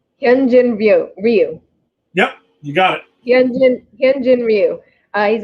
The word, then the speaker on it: Ryu: and i hope i say his name right ryu yep you got it he's a left-hand pitcher